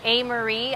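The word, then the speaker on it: Amerie: a Neptunian love is by this artist named amery I don't know if any of you know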